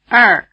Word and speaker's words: 二: 二二二 In addition to syllables in the shape ER, there are many